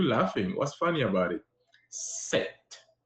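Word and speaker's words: sept: what's funny about it set set you hear how I say set once I was set year old once I was seven years old seven is set in French pretty easy too now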